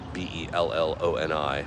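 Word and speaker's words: Matt Belloni: I swear to God, the original pronunciation is baloney, but Belloni, Matt. But I like Matt Bellany.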